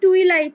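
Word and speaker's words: twilight: টুইলাইট না।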